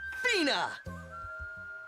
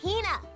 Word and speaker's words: Hina: And this young lady is my traveling companion, the esteemed archaeologist, Fina. She's going to You keep saying it wrong. It's Hina.